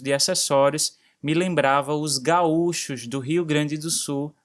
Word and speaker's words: gaúchos: Nesses países de língua espanhola são conhecidos como gauchos, assim com a pronúncia mais forte no a, enquanto aqui no Brasil a ênfase é no u, gaúchos, ganhando inclusive um acento agudo.